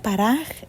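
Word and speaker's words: פרח: Se pronuncia paraj y se escribe P-A-R-A-K-J.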